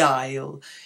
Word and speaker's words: aisle: an airplane that's the aisle in all three of these words Island Isle and Isle the S is not pronounced so that's something very